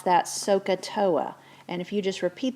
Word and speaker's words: SOHCAHTOA: hypotenuse tangent is opposite over adjacent and you pronounce that sohcahtoa and if you just repeat that to yourselves